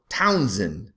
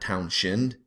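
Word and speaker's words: Townshend: um invention or innovation by Charles turnup Town Townsen not townin everybody wants to pronounce that H for God's sakes you know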